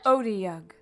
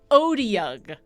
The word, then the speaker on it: Otyugh: a second and make sure that I'm actually pronouncing it correctly, because I'm pretty sure I'm not. Oh, okay. Let's see. Otyugh. Otyugh. There we go. Thank you, Marisha Ray. Otyugh.